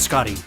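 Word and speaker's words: Schotty: and our leader is shoddy with four it's Scotty um s-c-h-o-t-t-y shot it Aaron if I used your logic then school would be pronounced School hey that sounds cool no it sounds stupid and you're making me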